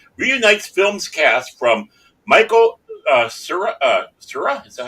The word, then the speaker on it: Cera: Scott Pilgrim, Netflix anime series, reunites film's cast from Michael Cera? Is that how you pronounce that? Yeah, Sarah.